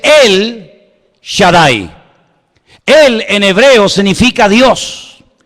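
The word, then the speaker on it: El Shaddai: Ja solamente hay uno así que en hebreo no dice ha Shadai el todo poderoso sino dice él Shadai él en hebreo significa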